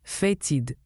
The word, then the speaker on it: fétide: Fétide se prononce fatid.